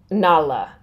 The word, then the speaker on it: Nara: as Tom's wife to Nala what's spelled like Nara so their ours are L's here and we saw a